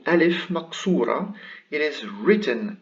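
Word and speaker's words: ألف مقصورة: line it is called alif maksura it is written like it is written like a yah but it is pronounced like an alif so it is ah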